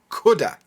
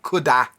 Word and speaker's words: could have: We usually take these words and push them together and we end up with cudda. Cudda. Notice the sound at the end. Cudda, not coulda, cudda.